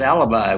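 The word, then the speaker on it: Alabai: It's pronounced alibi, which is what I tell my boss whenever I play golf instead of going to work.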